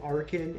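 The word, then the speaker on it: Archen: And so now that makes sense to pronounce the CH as a hard C, and I'm good with that. That's perfect. So I'm going to start trying to say Arkin and Archeops because that makes sense to me.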